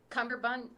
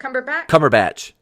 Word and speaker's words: Cumberbatch: we didn't have um i might i love cumberbund um no how do you say it oh benedict cumberbatch benedict cumberbatch cumberbatch i love his version of